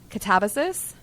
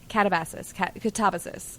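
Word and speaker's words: Katabasis: going to butcher it, Catabasis? Catabasis. I think that's the official... I've seen it, but I don't know how to say it. Yeah. I was originally calling it catabasis, but it's catabasis.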